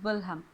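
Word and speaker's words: Wilhelm: 19th century में विलियम want कहीं पर देखिए यह स्पेलिंग आपको लिखा मिलेगा डब्ल्यू आई एल एल आई एम और कहीं पे आपको विलहम डब्ल्यू आई एल एच ई एल एम तो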